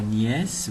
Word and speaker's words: nièce: Alors nièce, vous voyez bien qu'il y a un E qui ne se prononce pas, un E muet à la fin.